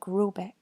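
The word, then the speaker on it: Råbäck: hair guard in question is to be called Rybak pronounced something like Rubik though that is not it's me it is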